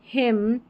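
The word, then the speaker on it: hymn: फिर है नंबर 33 पर एम एन, इसको म पढ़ेंगे क्योंकि एन यहाँ पर साइलेंट है, लास्ट में आएगा ये वाला पैटर्न, ठीक है। ऑटम, कॉलम, हिम, यहाँ पर है कंडेम, सोलम, सोलम, यहाँ पर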